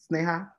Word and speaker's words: Saha: our two panelists um Saha am I pronouncing your name right Saha yes that's correct all right perfect snay